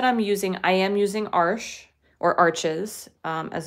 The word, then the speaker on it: Arches: using, I am using arches, as it's more commonly known in the US. It is a French paper, so so it is supposed to be pronounced arche, I guess, but we call it arches around here.